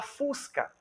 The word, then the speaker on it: fusca: Quando você vai falar fusca, qual é a energia expiratória que você tem na sílaba? A intensidade. No fus. Fusca.